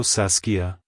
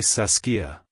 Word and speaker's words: Saskia: to pronounce it correctly emphasize the a sound in the middle and end with a soft a at the end like Hello saskia Goodbye saskia if you found the